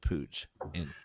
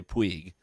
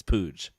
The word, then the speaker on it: Puig: In Madrid, you would say Puig. But in Barcelona, where he's from, it's Puig. It's a Barcelona. Yeah. So in Catalan, it's Puig.